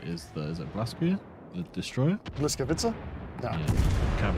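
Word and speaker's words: Błyskawica: Bliskovica? No. Yeah, I can't pronounce it. But they're saying that's Biscuit, not Bismarck. It's Wiskovica. It's almost like a W sound. It's like but Whisker.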